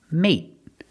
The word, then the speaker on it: mate: we see the pronunciation mate and mating with mate we end with a t so it's a stop T mate stop the air we don't say mate